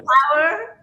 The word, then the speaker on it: Pauer: So phonetically, it's an interpretation how the word power, Power, will be written in Spanish.